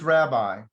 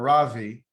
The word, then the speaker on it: Rabbi: teacher, more than just rabbi, which is Rabbi or Ravi, but Rabboni.